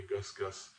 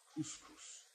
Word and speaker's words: couscous: is serving or making a dinner dish that she can't pronounce, so she pronounces it GusGus. And of course the dish is couscous.